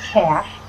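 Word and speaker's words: cache: or will be cashing c-a-c-h-e is how you pronounce that cash uh storing it away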